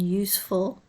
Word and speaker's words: useful: a positive suffix and note the sound varies use the S is like a zed useless and useful it's a very much an S sound unknown unheard of it